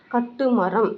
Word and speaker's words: கட்டுமரம்: தமிழ்லேருந்து உங்களுக்கெல்லாம் தெரியும், கேட்டமரான் அப்படின்ற வேர்டு வந்து கட்டுமரம் அப்படின்ற ஒரு தமிழ் வேர்ட்லேருந்து வந்த வேர்டு தான் கேட்டமரான். அவங்களுக்கு வந்து கட்டுமரம்னு நம்மள மாதிரி கரெக்டாக தமிழில் ப்ரொனவுன்ஸ் பண்ண தெரியாதனால அவங்க ஸ்டைலாக கேட்டமரான் அப்படின்னு சொல்லிட்டாங்க.